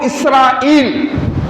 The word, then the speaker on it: இஸ்ராயில்: Israel என்பது ஒரு நபியுடைய பெயர் அதனுடைய உண்மையான உச்சரிப்பு இஸ்ராயில் இஸ்ரா என்றால் அப்துல்ன் அடிமை ஈல் என்றால் அல்லாஹ் இஸ்ராயில் அப்துல்லாஹ் அரபியில் இஸ்ராயில்